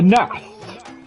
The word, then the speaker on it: Gnath: The Nath. I'm assuming that's a silent G.